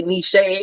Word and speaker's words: niche: It's spelled it's niche, but they say niche or whatever.